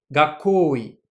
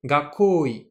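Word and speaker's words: 学校医: Le médecin scolaire, ça se dit en japonais gakoi. Ici, uniquement la pause, mais que l'on ne prononce pas, et le ko sont en haut. Gakoi.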